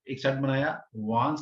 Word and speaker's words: Wands: वांस, basically spelling है WANDS, लेकिन इसको जो प्रोनाउंस किया जाता है वांस, डी साइलेंस रहता है। तो वांस बोलते हैं।